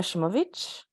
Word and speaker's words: Simovic: proper you said like the proper Croatian um even a shimovic did I even say it right yes that's cool this girl